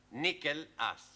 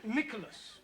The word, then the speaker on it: Nicholas: upon a times there was a man called nickel ass it's not quite right no once upon a time there was a woman called nickel ass it's pronounced Nicholas all right once upon a time there was